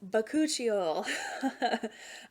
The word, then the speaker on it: Bakuchiol: I always mispronounce it, but it's Bakuchiol.